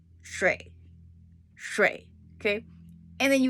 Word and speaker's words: 水: 水 is a little bit difficult to pronounce, okay, for non-native people.